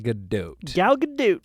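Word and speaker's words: Gal Gadot: there you go way to go and it's pronounced galot galgadot there you go cool so anything else you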